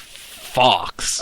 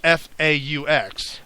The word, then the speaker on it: faux: they see that and they think it's pronounced Fox. I was going to say it is Fox. It's Fox News is FAUX. Right. But it's that would be pronounced faux. But it's French. Doesn't matter. It's all French. It's faux.